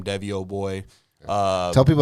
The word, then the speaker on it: Devyyyoboy: I'm pretty sure it's all just my name Deo boy uh tell people how to spell that by the way that's how do you